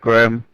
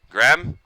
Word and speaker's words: Graham: name for me yeah it's uh graham the same as how you'd normally spell it graham all right man